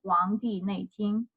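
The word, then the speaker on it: 黄帝内经: In Chinese, basically, you can pronounce it as Huang Di Nei Jing.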